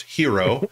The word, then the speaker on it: Hiro: The main character is Hiro, pronounced hero.